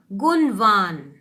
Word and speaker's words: गुणवान: गुणवान ना बोलो, इसको ना प्रोनाउंस करो णा को। ये तो आपकी मैम ने भी पहले पढ़ाया, आपने पहले भी पढ़ा होगा। अणा को ना प्रोनाउंस करते, तो गुणवान बालक, ठीक है ना। गुणवान भी कभी कभी बोल देते हैं, वो भी गलत नहीं है, बट प्रोनाउंस ना करना चाहिए, ठीक है।